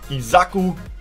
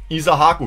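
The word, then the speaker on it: Issahaku: Milos Degenek und Isaku Abdul Fatabu. Isahaku, jetzt habe ich es richtig ausgesprochen. Huch.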